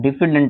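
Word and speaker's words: diffident: of confidence is called डिफिडेंट या डिफिडेंट हां डिफिडेंट इज the right pronunciation डिफिडेंट ठीक है तो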